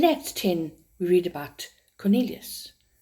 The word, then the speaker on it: Cornelis: In Acts 10, we read about Cornelius. My husband pronounced it Cornelis because that's his second name and he's Dutch.